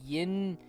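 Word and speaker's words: YInMn: uh yep okay so it no it's called yin it it's spelled y y l n m n it's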